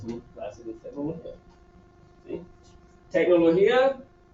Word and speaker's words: tecnología: Tecnología, acento, ¿sí? Acento en I.